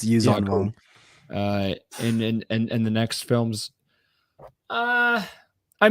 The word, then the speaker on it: Yuuzhan Vong: It's Yuuzhan Vong.